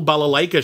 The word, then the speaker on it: balalaika: were in a concert movie called the total balalaika show I think I'm pronouncing right Ella like oh that's correct yeah